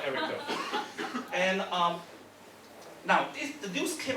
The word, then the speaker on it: Erica: One of the biggest banks in America launched another robot checkbox called Erica. Okay, also remember Erica rhymes with Bank of America. Okay, that's how it's called Erica.